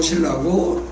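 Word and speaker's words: 실라: 사실을 보인 거예요 또 신라는 유대의 그리스도인에 히브리 발음으로 신라고 로마식 발음으로 실루아노 디모데는 반 유대인이 어머니는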